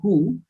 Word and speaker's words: Koo: It's called coup. And unfortunately meant to rhyme with poo, and it functions exactly like its rhyme sake.